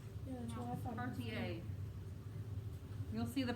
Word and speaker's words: Cartier: Looks like Carter. Looks like Cartier. I thought it was Carter. Yeah, that's what I thought. Cartier. You'll see the pronunciation here when we start reading. So the R is silent, Mm-hmm.